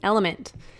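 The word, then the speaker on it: LMNT: of our sponsors Ln element it's spelled l MNT but pronounced element if you haven't heard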